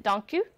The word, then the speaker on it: dank u: Is it dank u?